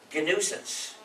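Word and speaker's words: gNewSense: You see, GNUsance is spelled like G-new-sense, but it sounds the same as my title as the head of the GNU project, which is the Chief GNUsance, which is spelled as G followed by nuisance.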